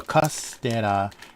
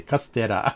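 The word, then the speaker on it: カステラ: So castera is the Japanese pronunciation of, I don't know if you can see the English here, Castilla.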